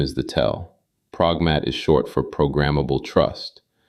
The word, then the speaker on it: Progmat: Pragmat is short for programmable trust. And the founder has written publicly that the T on the end is silent, which sounds like a note about pronunciation.